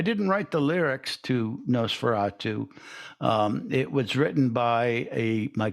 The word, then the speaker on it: Nosferatu: So should we talk about the other song, the song that you wrote, the Nosferatu? I said it right? That's Nosferatu.